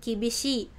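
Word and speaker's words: きびしい: tegasnya itu disebut dengan kibishi. Nah shi-nya itu panjang ya minasang karena ini ada i-nya di belakangnya gitu.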